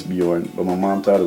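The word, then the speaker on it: Björn: know my name is Bjorn really the real pronunciation of it is beorn but my mom thought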